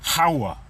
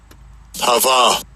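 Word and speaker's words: הָוָה: And you can see it says Hawa. And I'll give you a pronunciation, even though this is going to be pronounced with the V sound.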